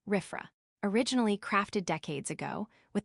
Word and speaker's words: RFRA: Following swiftly upon the heels of the Supreme Court Ober Jeffel ruling, the Indiana legislature passed a Religious Freedom Restoration Act, RFRA, pronounced RIFFA, originally crafted decades ago with the purpose of preserving the rights of minority religious people.